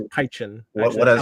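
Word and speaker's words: Pynchon: I say Piken, but his name's Pychen.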